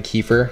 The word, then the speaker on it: kefir: So I really, really like the kefir.